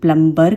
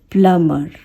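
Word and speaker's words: plumber: मैंने बहुत लोगों को सुना है वो इसे प्लम्बर कहते हैं, ये प्लम्बर नहीं है, इसका जो साउंड होता है प्लमर, ओके, प्लमर। ये जो बी है इसमें ये बी साइलेंट होता है, तो आपको क्या बोलना है, प्लम्बर नहीं कहना है, आपको कहना है प्लमर, प्लमर, ओके।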